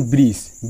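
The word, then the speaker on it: bridge: যেমন ব্রিজ, ব্রিজে ডি এর পর জি এসে, তো এক্ষেত্রে ডি উচ্চারণ হচ্ছে না, জাস্ট ব্রিজ হচ্ছে।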